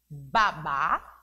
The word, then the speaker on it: babá: da boca da criança Observe aqui a escrita da palavra é a mesma mas a pronúncia o que a pronúncia diferente por conta do assento ahh mudo e existe na última sílaba da palavra Babá e o baba Olha a diferença então o acento agudo dá uma tonicidade diferente da palavra baba